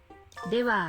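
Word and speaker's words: では: Jadi nih, ini walaupun tulisannya H, tapi dibacanya wa ya.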